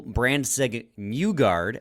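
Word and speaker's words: Brandsegg-Nygård: Michael Brandseg Newgard, as it's pronounced, apparently, according to Tony Ferrari.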